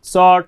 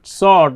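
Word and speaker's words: sought: और इसमें आपको बताया है कि शॉर्ट पढ़ते हैं जब जी से जस्ट पहले ओ यू आया है, इस समय जी का उच्चारण नहीं होता।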